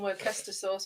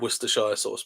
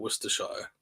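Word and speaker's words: Worcestershire: purple packet don't know I used to call them wer sauce all the time because I didn't know how to pronounce it we call it well it can be called wer shy sauce but I think the Americans call it wer Shire we call it wer over here don't we I don't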